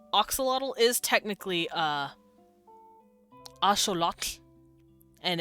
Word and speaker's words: axolotl: So it's axolotl. Axolotl. That's how they'd pronounce it. But we say axolotl.